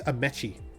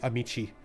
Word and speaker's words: Amechi: donamici the actor amici actually it's amechi if you pronounce it properly but but my my my friends call me amici or my nickname is